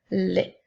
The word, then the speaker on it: les: nous avons le mot les le mot lait s'écrit l e s le son es lorsqu'il est placé à la fin d'un petit mot de trois lettres se prononce est donc elle qui fait